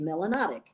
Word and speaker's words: melanotic: melanin you must be melanotic in rhymes with exotic and the word melanotic